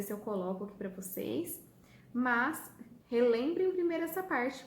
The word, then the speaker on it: você: Qual sílaba que eu falo mais forte? Vou ou se? Se, tá? Então, essa é a sílaba tônica, porque aqui eu falo mais forte, tá?